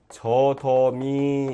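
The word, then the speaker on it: 젖어미: 그 다음에 젖 어미 그러면 이것도 마찬가지겠네요. 디귿이 그대로 지읒이 그대로 대표음인 디귿으로 바뀌어서 저더미 이렇게 일어나죠.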